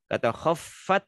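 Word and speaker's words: خفت: Nah, kata khaffat di situ harus jelas ngikut F-nya.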